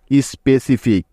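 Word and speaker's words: specific: আর আমরা জানি যে সি এর পরে এই তিনটি বর্ণের একটিও না থাকলে ওই সিটা ক এর মতো উচ্চারিত হয়, ঠিক তো? তাহলে এফ আই সি মিলে হলো ফিক, স্পেসিফিক।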